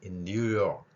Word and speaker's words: New York: 뉴욕이라는 우리가 발음을 하고 있지만 이 발음을 본다면 제가 받침의 니을과 키읔을 동시에 표현해 놨습니다. 그래서 요까지는 발음을 하고요. 키읔은 흘리는 것이죠. 그래서 뉴욕, 이런 식으로요. 그러면은 욕 발음도 아니고 요크도 아닌 york 이런 식의 받침 소리가 가능한 것이죠.